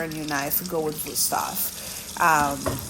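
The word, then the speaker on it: Wüsthof: the market for a new knife go with boof um it's spelled with V but it's pronounced vof and a lot of people don't know that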